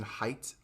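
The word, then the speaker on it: Haidt: righteous mind by jonathan height i think you pronounce him h-a-i-d-t now um depending on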